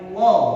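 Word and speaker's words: الله: Baru kalau yang dibaca tafkhim atau tebal itu dibaca Allah. Coba dengarkan. Allah. Ya, itu menjelaskannya memang seperti itu ya. Kalau dibaca tipis dibaca lalilu seperti biasa, kalau tebal dibaca Allah.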